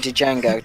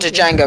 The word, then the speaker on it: Django: to start drama OD Django it's not judge a go it's Django no no that's like the things hope you don't pronounce the D and my name it's only django Django Unchained good [